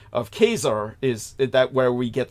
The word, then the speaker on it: Caesar: is the West the anglicization of the correct pronunciation of keser is that where we get the term Kaiser